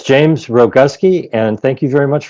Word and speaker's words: Rogowski: I don't screw it up well it's James Rogowski and thank you very much for having me